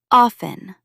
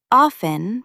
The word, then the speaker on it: often: And third, often. Both pronunciations, with or without the T sound, are actually acceptable, but the more common one drops the T. Often becomes often.